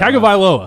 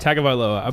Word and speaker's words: Tagovailoa: How do you pronounce that? Tagovailoa. Tagovailoa.